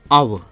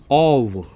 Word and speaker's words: of: ओ एफ जो है इसका प्रोनाउंसिएशन है अव, और इसका जो स्ट्रॉन्ग फॉर्म है वो है ओव।